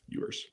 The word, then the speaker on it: Ewers: Ewers.